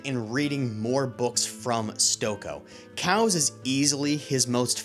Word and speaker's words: Stokoe: Hey Google, how do you pronounce S T O K O E? The most common pronunciation for Stoko is S T O H Stoko.